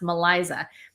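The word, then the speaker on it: MELISA: called the Malisa test it's spelled like Melissa but it's spelled it's pronounced maliza that will show if you have a titanium allergy so if you have a titanium allergy take the maliza test and if you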